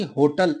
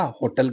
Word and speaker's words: hotel: बलाघात में कभी और होता होगा, जैसे कि होटल, HOTEL। तो HOTEL हम हमेशा होटल कहते हैं, लेकिन इसका अर्थ क्या होता है? इसका उच्चारण क्या होता है? होटेल होता है।